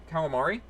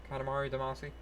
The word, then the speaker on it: Katamari Damacy: It was almost like calamari or is that, am I pronouncing that right? Katamari, Katamari Damacy.